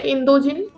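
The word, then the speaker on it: インド人: to say Indian so Indian in Japanese is indogen okay indogen can you please say indogen indogen indogen indogen indogen okay so uh just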